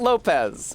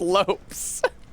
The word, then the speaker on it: Lopes: not Lopez RB. That would be the Spanish version. Lopes, spelled the same, but pronounced Lopes.